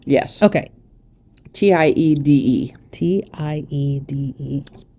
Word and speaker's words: Tiede: Tiede. Tiede.